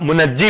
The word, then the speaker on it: मुंजी: तो जब सेवियर कहा जाए, मुंजी कहा जाए, जो ठीक प्रोनाउंसिएशन है वो मुंजी है, मगर बात मुनज्जी भी कहते हैं।